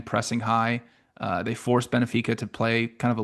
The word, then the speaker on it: Benfica: Uh just saying it's Benfica. I keep adding an I in between it.